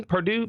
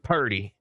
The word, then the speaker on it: Purdy: Brock, how do you say, is it Purdy? Purdue? Purdy? Purdy.